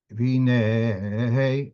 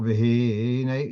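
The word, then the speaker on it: והנה: So for looking at the pasuk here, V'hinei, it's not v'hinei, it's v'hinei. That's milra, which means at the end, at the last syllable, that's where the stress is.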